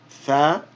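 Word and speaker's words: ثقيل: So we have a tha with a fatha, a qaf with a kasra, elongated by the ya, and then the lam. Thaqil, thaqil. We're dropping that tanween sound at the end.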